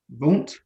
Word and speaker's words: Vaunt: He most recently founded a niche luxury perfume brand, Vaunt. Is that pronounced right?